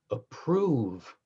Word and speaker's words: approve: Approve rhymes with love, of whose eyes I might approve this flower's force in stirring love.